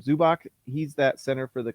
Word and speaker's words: Zubac: i always forget how to say his name zubach he's that center for the cleveland or for